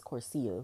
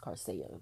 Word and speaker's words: Coursera: I kept pronouncing it as Corsia, but I was told it's pronounced Carcia.